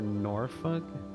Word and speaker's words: Norfolk: Norfolk or Norfolk with the L being silent.